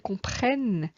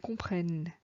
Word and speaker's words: comprennent: nous comprenons vous comprenez la dernière syllabe n'est pas muette alors que les dons il elles comprennent est écrit mais ne s'entend pas quant au verbe dire